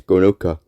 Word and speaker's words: Gronoka: Malice Gronoka and Norman Ailsire are the cousins. Okay, and these names are spelled. Malice is spelled Malys, and Gronoka is spelled Gronoka.